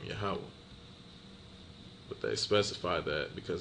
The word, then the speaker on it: Yahawah: high so they have translations such as Yahweh or Yahweh which is a off Hebrew translation okay so yeah let